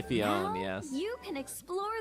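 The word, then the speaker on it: Phione: It looks like I wish Fiona showed up instead so people would actually say Fiona's name right. I'm saying it right now. It's Fiona. Manaphy will teach Ditto how to have fun underwater.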